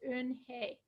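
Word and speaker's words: Unhei: could pronounce it and I looked for a pronunciation myself of it it's in hey and it means grace so anyway through a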